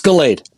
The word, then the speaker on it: Galade: You're close. It's Galade. Galade, okay.